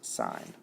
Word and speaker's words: sine: sign of a and sign is always abbreviated si n but it's pronounced sign so if I want